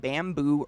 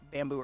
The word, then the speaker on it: Bambu: But this brand, it's called Bamboo Earth. It's spelled BAMBU.